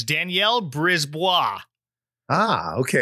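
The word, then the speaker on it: Brisebois: I looked it up because I could have gone either way, but it's Danielle Brisbois.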